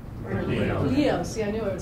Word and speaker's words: Bernalillo: That was in 2007, and that was from the economic importance of the arts and cultural industries in Albuquerque and Bernalillo? Bernalillo.